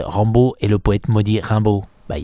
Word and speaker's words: Rimbaud: Essayez de prononcer Rimbaud à l'américaine, ça donne quoi ? Quoi ? Rimbaud ? - Non, avec l'accent ! - Ah, à l'américaine. Rimbo, Ranbaud... ah !